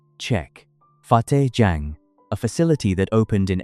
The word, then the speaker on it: Fateh Jang: 23 kilometers southwest of Kohsar Market, the new Islamabad International Airport sits on a plain near Fateh Jang Tehsil, pronunciation Czech, Fateh Jang, a facility that opened in April 2018 and